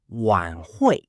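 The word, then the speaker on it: 晚会: The next word is wan hui. Pronounced wan hui.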